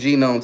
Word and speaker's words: gnome: I miss the Gnome, too. It's It's still at home, bro. I still got the Gome with me. I still miss it. The G is silent.